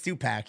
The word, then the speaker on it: Tupac: call Tupac it's it's Tupac yeah no it's Tupac isn't it well it's not PK it's Pac all right spell it